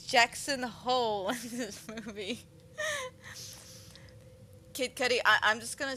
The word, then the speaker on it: Kid Cudi: don't know we of course have kids uh Cuda oh I can never say his name kid uh Kid Cudi there we go I don't want to say